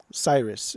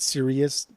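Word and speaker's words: Sirius: it Cyrus or Sirus Cyrus it's it's spelled stupid but it's pronounced Cyrus is it okay yeah right cuz that the girl that I was watching on her YouTube videos she she said serious constantly and then on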